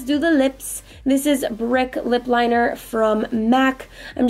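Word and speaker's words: Brique: liquid lipstick from zou this is called brick but it's spelled b r i qu e and then I am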